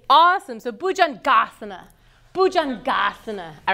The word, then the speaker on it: bhujangasana: you know them all you guys know exactly how to say the back part of every Sanskrit pose cuz it's always gonna be awesome at you always know that you're gonna put the emphasis on that sulabha just say asana like